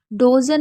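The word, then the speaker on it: dozen: हाँ, आप देख सकते हैं कटर एक बड़ी वर्ड मीनिंग है जिसमें हम यू को आ पढ़ रहे हैं। डोजन में हम किसको आ पढ़ रहे हैं।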